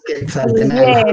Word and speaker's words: Quetzaltenango: Voy a aprovechar por aquí para saludar tenemos a Edwin Vázquez, que nos saluda desde Quetzaltenango. ¿Lo pronuncio bien, Manuel? Sí, así es, Quetzaltenango.